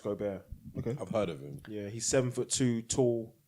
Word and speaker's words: Gobert: beast beast Wow I watched him Rudy Gobert pronounced Gobert he's seven foot two tall great defensive player